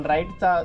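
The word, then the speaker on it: write: आपण ऐकत आलेला आहे पण राईटचा जो इथे स्पेलिंग आहे ती आहे डब्ल आर आय टी इ म्हणजे काय की डब्ल हा इथे सायलेंट आहे याचा उच्चार होतो राईट राईट म्हणजे लिहिणे नंतर आहे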